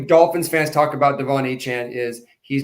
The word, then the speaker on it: Achane: So your Jahmyr Gibbs, your Bijan Robinsons, Devin Achane, right? I think it's how it's pronounced. Achane? Okay. Achane.